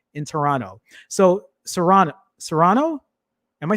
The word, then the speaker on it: Toronto: sure it would uh pronounce uh toronto but with the s sound and not the t yeah i've learned when i went to toronto they they taught me don't don't say the last part of the t in